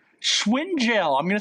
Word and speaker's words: Schwingel: Ashley Schwingel. Schwingel. I'm going to spell it for all you there.